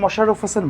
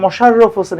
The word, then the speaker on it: মীর মশাররফ হোসেন: আজকের এই ক্লাসে আমরা মীর মশাররফ হোসেনের সাহিত্যকর্মগুলো মনে রাখার টেকনিক শিখব। তার আগে ভালো করে লক্ষ্য করতে হবে মীর মশাররফ হোসেন বানানটা। মীর মশাররফ হোসেন, এখানে কিন্তু মোশাররফ হোসেন না, মশাররফ হোসেন, এবং কোনো রয়ের নিচে হর্ষ